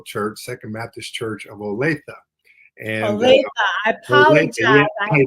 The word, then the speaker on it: Olathe: Everybody pronounces it the way that you do, but the correct pronunciation is Olathe.